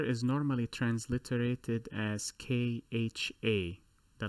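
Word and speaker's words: خ: So the best I could think of in terms of an example to help you pronounce this letter is the spitting sound. If someone is preparing phlegm in their throat, the that sound right there, that is the kha sound.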